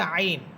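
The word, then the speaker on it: ع: এরপর হামজা সের ই, আইন সের ই, কণ্ঠনালীর মধ্যখান থেকে উচ্চারিত হবে আইন, আইন সের ই।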